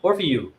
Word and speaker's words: Orfeu: They pronounced it kind of funky, the same way Black Orpheus is Orfeu. Orfeo. Orfeo? I mean, that's Orfeu. Portuguese and Spanish, you know, Orfeo.